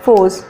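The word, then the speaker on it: φῶς: सो the word photosynthesis is derived from the Greek word फोस, pronounced force.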